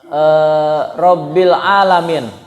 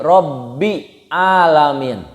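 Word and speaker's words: رَبِّ الْعَالَمِينَ: Misalkan rabbil alamin. Dibacanya gini ya. Alhamdulillahi rabbi alamin. Berarti ada dua huruf yang tidak ada.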